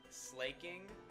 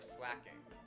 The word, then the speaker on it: Slaking: Is it slaking or slacking? I go slacking. Even though Slack King should have a double K, so maybe it should be slaking Slaking. for the single K. Yeah, I would say slacking is what I call it, but so many people call it slaking. Because then if we reverse engineer it, it should be Slakoff rather than Slackoff because there's only one K.